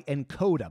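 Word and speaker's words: Nkoda: This episode is brought to you by Encoda. By the way, that's spelled N-K-O-D-A.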